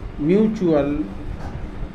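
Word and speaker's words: mutual: एक्चुअल, एक्चुअल, एम यू टी यू ए एल म्यूचुअल, सी ए पी टी यू आर E capture,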